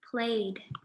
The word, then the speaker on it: played: Okay, our next word is played. Does played have a t sound or a d sound? Played, played. Played has a d sound, just like listened.